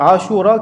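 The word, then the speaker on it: عاشوراء: depis ce qui alors asoura qui veut dire sorti dans le motarin qui veut dire 10A Alif Shin W avec RA Alif Hamza donc asou trois longues syllabes ASA qui veut dire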